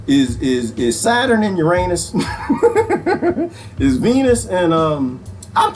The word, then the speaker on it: Uranus: uranus it's uranus people it's not pronounced uranus it's pronounced uranus all right who got